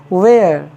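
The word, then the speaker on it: where: यर तो dear viewers जब भी एच से पहले डब्लू आ जाए तो उस कंसन में एच साइलेंट हो जाता है जैसे डब्लू एच ई आर ई इसको हम क्या पढ़ेंगे वेयर जिसका मतलब कहां होता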